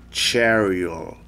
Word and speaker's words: Cheryl: Porque não é como você tá vendo, não. Cheryl. Cheryl Mason. Não, é Cheryl. Então o L tem que fazer um trabalho com a língua, né? Uma desenvoltura que não se pronuncia em português. Uma pronúncia do L que você não pronuncia igual em português.